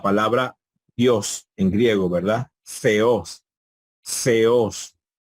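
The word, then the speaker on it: θεός: Theos, theos. Entonces ahí tenemos 2 sílabas, theos, theos. Fíjense que no hay un golpe de voz, un solo golpe de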